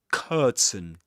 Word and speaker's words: curtain: Curtain, this long sound, curtain, curtain of water, curtain of water. Again, a schwa in this unaccented syllable of curtain of water, curtain of water.